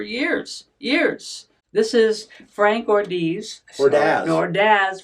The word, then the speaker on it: Ordaz: Ordaz. Frank Ordaz. Rhymes with jazz.